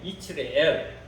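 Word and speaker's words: 이스르엘: 그리고 이스라엘 히브리 원어의 발음으로는 이치레엘이에요. 이치레엘. 영어로는 세즈리엘. 한국말로는 이스라엘.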